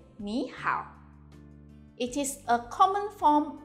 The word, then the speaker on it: 你好: Please take note that when we have two third tones, the first third tone is pronounced as the second tone. In 你好, 你 is pronounced as the second tone.